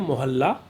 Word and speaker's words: मोहल्ला: जी, इसका अगर आप उच्चारण सही करेंगे मोहल्ला तो आप बर्तनी को बिल्कुल सही लिख लेंगे।